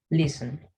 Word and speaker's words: listen: Esta palabra en inglés, la T es muda, ¿sí? Y pues sonaría algo así. Listen, listen. Algunos pueden incluso colocar la E, listen, ¿sí? Como listen, pero es una E que apenas se escucha, ¿sí? Entonces, si ustedes dicen listen, bueno, no hay problema, pero para que suene mucho más natural sería listen, ¿sí?